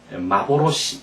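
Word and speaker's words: 幻: 그다음 이것을 뭐라고 읽는다고 일본어로는 환상 환영을 마보로시 이렇게 읽습니다 마보로시 이렇게 꼭 여러분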